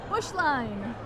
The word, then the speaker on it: Beuschlein: Bush line. There you go. It does not look anything like it's spelled.